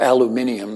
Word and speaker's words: aluminium: release included many metals aluminum or aluminium the way the Brits say it iron manganese lead copper